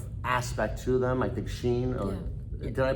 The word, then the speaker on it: Shein: I think Shein. Did I pronounce that right? Yeah, that's how I pronounce it. Okay, Yeah, Shein, so Temu.